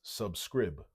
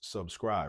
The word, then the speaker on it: subscribe: Because that's a long I, there should be a silent E at the end. Or else it would be pronounced subscrib. And we know it's subscribe, right?